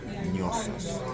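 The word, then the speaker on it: gnosis: the Greek word gnosos, which is that G is silent. Gnosos is how that's pronounced. Like gnocchi.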